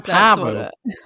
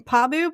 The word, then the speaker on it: Pabu: They're on Pabu." No, I think we've been saying it wrong. Have we? Because we've been saying Pabu, but I feel like they were saying Pabu. Like emphasis on the Pabu.